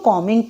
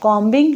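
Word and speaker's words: combing: आपने याद रखनी है की कमेंट में 20 साइलेंट है आपने इसको कमेंट पढ़ने हैं कांबिंग नहीं कहना अगली एग्जांपल है ठंडी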